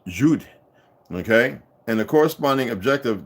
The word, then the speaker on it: Jude: In German word Jude and is pronounced Jude, okay?